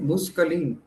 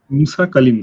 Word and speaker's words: Musa Kalim: How you pronounce it? Muskalim. Musa Kalim, sir.